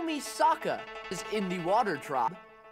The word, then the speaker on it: Sokka: I'm Sokka. It's pronounced with an Akka.